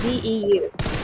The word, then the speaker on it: DEU: Sounds like Dew. Alright, so we got DEU. And that's how we pronounce it, DEU.